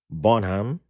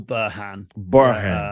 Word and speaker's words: Burhan: and honored to have bonham did i say it right yeah it's burhan um you can call